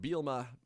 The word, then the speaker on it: Bielema: uh adam rittenberg reports the illinois coach brett bielma did i say his name right yeah you